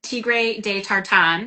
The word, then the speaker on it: Tigre de Tartan: And I pronounce it tra de tartan because I'm from Chicago. We have the flat A's.